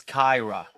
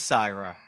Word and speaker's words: Cyhra: Okay, I will assume that you think that it's Kyra. I was wondering if it was Syra, actually. It is Syra, Right, but okay.